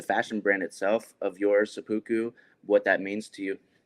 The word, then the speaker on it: SEPPUKU: If you could just speak on the documentary and then the fashion brand itself of yours, SEPPUKU, what that means to you. Yeah, it's pronounced seppuku.